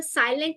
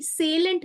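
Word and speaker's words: salient: होता है जिसके अंदर साइलेंट नहीं सेलेंट फ्यूचर होते हैं future S ए एल आई ई एनटी सेलेंट feature का मतलब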